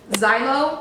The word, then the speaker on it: Zillow: Zillow, I think you pronounce it, probably wrong.